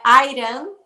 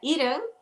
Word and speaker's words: Irã: o jornalista falou, primeiramente, você está pronunciando o nome do meu país errado, não é Irã, é Irã.